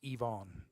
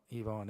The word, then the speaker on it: Ivonne: It's Ivonne. Ivonne. I know it's spelled with an I but like just so we'll get that out there.